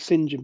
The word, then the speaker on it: St John: it was Al Well normally when it's written St John it's normally Spen they pronounce it singen but doesn't matter St John philby it's his